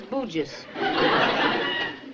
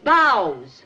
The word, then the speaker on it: bough: What is this bujas? Bujas, right in there. That's boughs. B-O-U-G-H is bough? Right.